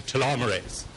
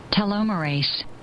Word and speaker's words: telomerase: chromosomes are protected by telomeres and the enzyme telomerase. Okay, 2 things to know about this. First, it's pronounced telomerase.